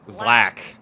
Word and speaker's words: ZLAC: Oh, it's pronounced Zlack.